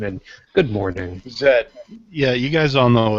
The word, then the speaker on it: Z: go ahead and correct him on his Z pronunciation and good morning Zed yeah you guys all know it's Zed at